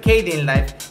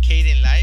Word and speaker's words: Kdenlive: Es muy sencillo, nada más ponen ahí descargar Cadenlive, se escribe con una K al principio.